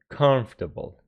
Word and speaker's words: comfortable: it is comfort and when it turns to the adjective this o is not pronounced anymore so comfort and then comfortable not only number seven